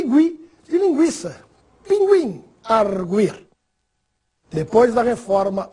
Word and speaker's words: linguiça: não seja mais usado, a pronúncia das palavras que recebiam o trema continua a mesma. Ou seja, devemos continuar pronunciando a letra U. Portanto, nada de falar linguiça, sequestro, cinquenta.